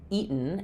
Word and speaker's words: eaten: Uh what we have is the typical American pronunciation here is uh similar to words like uh button or cotton or gotten. Sometimes when we have the suffix teen, we don't say a true t here.